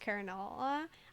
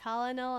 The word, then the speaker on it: colonel: in case we need directions yeah colel is pronounced Kel I always pronounce that colonal until around the same time I learned that